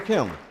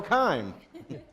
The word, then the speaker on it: Kim: Kim. Did I pronounce that correctly? Kime. As in, it's time.